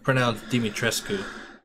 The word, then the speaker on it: Dimitrescu: Well, it should be pronounced Dimitrescu.